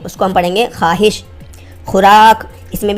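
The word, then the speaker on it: خواہش: ख्वाहिश, हम कहते हैं कि मेरी ये ख्वाहिश है, तो उसमें हम वाव को नहीं पढ़ते हैं, उसको हम ख्वाहिश नहीं पढ़ते हैं, उसको हम पढ़ेंगे ख्वाहिश।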